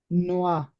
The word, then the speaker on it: noir: becomes what now if you have to pronounce this word? Noir.